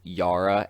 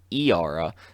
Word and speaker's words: Yara: couple pages uh with yara and i believe her name is pronounced iara the um slash mermaid